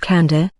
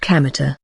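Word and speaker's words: Kamita: and field God's field but isn't pronounced Candor as you might expect it's pronounced kameter I live nearby I'll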